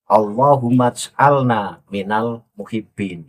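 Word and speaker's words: اللهم اجعلنا من المحبين: Allahumma ja'alna minal muhibbin. Kan begitu Pak Lui bacanya. Padahal yang benar itu bukan Allahumma ja'alna minal muhibbin. Allahumma'alna minal muhibbin. Itu baru betul.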